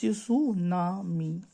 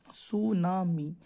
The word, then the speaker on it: सुनामी: उसे सुनामी कहते हैं आप लोग कह रहे होगे कि सुनामी में टी साइलेंट है हां थोड़ा जापानी अक्षर है ना तो इसमें टी साइलेंट रहता है बाकी तो देखो स्पेलिंग